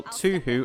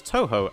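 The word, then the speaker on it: Tōhō: by the same token you can spell to who as Touhou as that's actually how it's pronounced till to who is how it's most commonly translated try it didn't see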